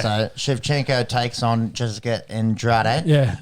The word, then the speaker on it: Andrade: shivchenko takes on jessica andrade yeah andrade oh it's actually on draj i think is how you say yeah she comes up